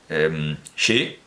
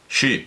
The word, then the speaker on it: Xí: Yo creo que podríamos decir que podemos trampear y pronunciar tanto el sonido chino como el sonido sánscrito redondeando los labios. Shi, shi. No es hacer la retroflexa y no es acercar la lengua a la base del cráneo, ya, pero...